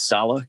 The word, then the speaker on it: Saleh: and by the way it is salah you are pronouncing it correctly i asked today and they told me at salah the organization i hear people a lot of people keep saying salah and that's one thing